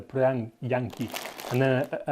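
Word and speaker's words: prjaņiki: try and pronounce this, prianki. Quite a difficult pronunciation in Latvian, with the first 3 letters being PRJ. But the J is a Y in Latvia, so prianki, and then a N rather than a N.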